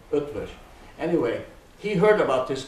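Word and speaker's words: Eötvös: E-O-T-V-O-S, Ötvös, is the way the Hungarian pronounce his name. There are umlauts on the two O's, okay? Ötvös.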